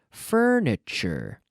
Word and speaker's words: furniture: time the pronunciation of the TU sound which is Chu Chu like fern or church or Chu furniture furniture did you buy